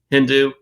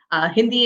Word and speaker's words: Hindi: You speak Mandarin, Hindu, and is it Tamali? Did I say that right? No, you completely butchered the last two.